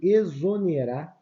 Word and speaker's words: exonerar: um som de z e exonerar tem o som de z as três aqui tem